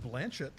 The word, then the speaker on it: Blanchett: I know it's pronounced Blanchett.